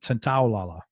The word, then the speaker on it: Santaolalla: he also worked with Oscar-winning film composer Gustavo Santaolalla. Did I pronounce that last? Santaolalla.